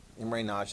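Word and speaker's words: Imre Nagy: unit it's really easy i am re and then last name nagy immery naj is how you pronounce that okay here's probably one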